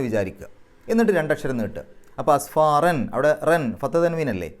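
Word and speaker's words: أسفارا: എന്നുള്ള ഉച്ചാരണം കൊടുക്കുക യഹ്മിലു അസ്ഫാറൻ എന്നാണ് അവിടെ ഒരു ജീം കാണാം പാരായണം നിർത്താം നിർത്താതെയും ഓതാം രണ്ടിനും ഒരേ പ്രാധാന്യം അവിടെ പാരായണം നിർത്തുകയാണെങ്കിൽ അസ്ഫാറൻ എന്ന് പറഞ്ഞിട്ടല്ല നിർത്തുക അസ്ഫാറാ എന്ന് പറഞ്ഞിട്ടാണ് നിർത്തുക ഫത്തഹ് തൻവീൻ കാണുന്ന സ്ഥലത്ത്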